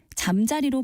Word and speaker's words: 잠자리: 이상한 말이 되고 맙니다 잠자리하고 표기하는 단어의 경우에 잠자리로 발음하면 이것은 여름이나 초가을에 볼 수 있는 곤충을 가리키는 말로 다닐 명사입니다 그런데 자리라고 발음하면 그때는 명사 잠과 명사 자리가 합해서 이루어진 복한 명사로 잠을 자는 자리라는 뜻입니다 곤충의 일종인 잠자리와 관련된 속담으로